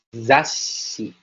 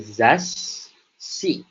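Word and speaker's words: ざっし: Jadi dibacanya seperti zashi. Jadi zashi.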